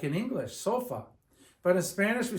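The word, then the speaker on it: sofá: it breaks the rule this accent mark over the a is telling you to pronounce the word stressing the a okay it is a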